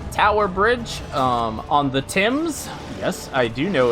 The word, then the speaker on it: Thames: now at a tower bridge um on the tim's yes i do know it's pronounced tim's uh i will now proceed to call it tames at least once i am so sorry in